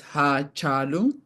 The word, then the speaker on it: Hachalu: So his name is pronounced in Oromo as Hachalu.